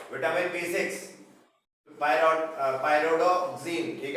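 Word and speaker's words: Pyridoxine: Vitamin B6 पायरोडोक्सिन, ठीक है, ये प्रोनाउंस कर लेना, पायरिडॉक्सिन बोल सकते हो, पायरिडॉक्सिन।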